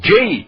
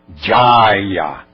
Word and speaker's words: jaya: Como Jai é pronúncia inglesa. Na pronúncia original é Mudra. É Jaya.